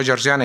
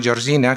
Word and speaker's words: Georgiana: investigación Georgiana Goddard King, digo Georgiana y no Georgina, que alguno lo escribe y lo pronuncia mal, es Georgiana Goddard King, de Webb St.